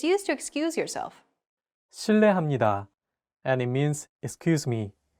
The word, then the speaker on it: 실례합니다: While this character is transcribed as an R and an L, don't pronounce it like an English R. Listen to how Jay is pronouncing this sound. 르, It sounds like a mixture between an R and an L sound.